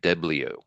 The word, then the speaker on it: DeBlieux: And this is the murder of Vickie DeBlieux. DeBlieux. Vickie DeBlieux. I don't know if I'm pronouncing her last name right or not. It's Deblieux. Oh, like So a French spelling.